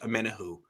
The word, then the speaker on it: Omenihu: Apparently, he likes his name to be pronounced Omenihu, or so I've heard.